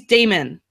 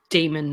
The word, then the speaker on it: Daimon: No, it's pronounced Daimon, not Daimon.